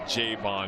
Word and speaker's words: Jayvon: number one is that Jayvon because he talked to us about it helping us during practicing if you're gonna say my name say it right emphasize on the J that's a Singletary we're